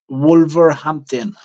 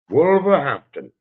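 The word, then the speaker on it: Wolverhampton: said you're fighting in wolver make sure I'm pronouncing that correctly where is it wol wolver Hampton wolver Hampton so what's that fight look how how far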